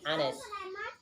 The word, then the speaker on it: honest: digunakan untuk huruf vokal, kecuali huruf yang hanya itu tidak dibaca atau tidak dianggap ada. Ya, ini our, honest, bacanya our and honest.